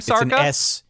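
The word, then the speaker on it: Szarka: It's Luke Sarka, I think is how you pronounce it, coming back, or Liam Sarka. Liam. It's an SZ situation at the front of the last name. Yeah, Liam Sarka coming back.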